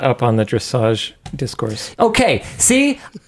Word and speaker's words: dressage: one of the Luke is not up on the dressage discourse. Okay, see, I think it should be pronounced just dressage, but people keep saying dressage, so I'm like, what? Isn't it French?